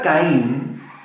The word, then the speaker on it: Caín: La palabra Caín es, diga conmigo, Caín, así como suena, Caín, K-A-Y-I-N, así se pronuncia, Caín.